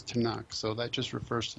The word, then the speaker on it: Tanakh: Nevi'im and Ketuvim and so tunak tunak turns up just being pronounced as tunak so that just refers